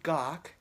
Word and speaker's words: Gach: name is Gok and my last name remind rhymes with the composer Bach so it just has a G doc and I want to